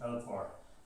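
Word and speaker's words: Elcmar: And you'll also find Eltmar, or his proper pronunciation, Eltmar, if you put the lenition on the M.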